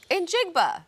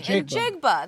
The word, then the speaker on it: Njigba: I'm not going to try to pronounce the last name. I've botched it a million times in morning TV. Njigba. Say it with me. Njigba.